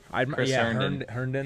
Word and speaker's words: Herndon: Herndon. That's how you pronounce it.